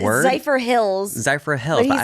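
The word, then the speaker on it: Zephyrhills: Zypher Hills. Zypher Hills. But he said Zypher Hillis.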